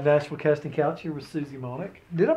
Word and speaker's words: Monick: cage with the nationville casting couch here with Susie monic did I pronounce it right yes monic okay I have the most trouble with names